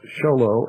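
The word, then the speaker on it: Show Low: Arizona 8 591 folks sholo is spelled exactly like it sounds like it's spelled it's two words show and low and yes it's the same show and low that you learned in first grade s for scarlet and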